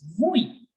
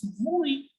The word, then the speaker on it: oui: are pronouncing yes as oui. Yes as oui. I know there is no V written here, but still they make the sound of V and they pronounce yes as vui.